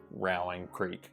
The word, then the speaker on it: Rowan's Creek: next one is uh I think they pronounce this round one Rowling Creek because Rowan County but I call it Rowan Creek Rowan's Creek because my son's name is